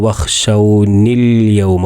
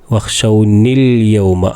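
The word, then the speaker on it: وَاخْشَوْنِ الْيَوْمَ: എന്നാൽ ചേർത്തി പറയുമ്പോൾ ആ ഹംസ് പറയില്ല.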